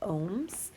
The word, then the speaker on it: ohm: something that we call ohms you can think of like a meditating person if that helps you understand how to pronounce it but an ohm is